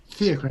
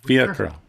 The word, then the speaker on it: Fiacre: So it's just the stress on the first syllable. Fiacra.